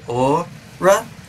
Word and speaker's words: aura: aura just yet so the pronunciation that i have for the word a-u-r-a i a lot of people around here say ah and i say o ra but it sounds like i'm doing a star platinum impression from jojo's